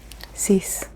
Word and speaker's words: six: Six, six. Almost like cease and desist.